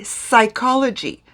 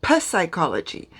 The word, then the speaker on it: psychology: knife same with psychology it is written with a p but you don't pronounce the p you say psychology not past psychology so in french i'll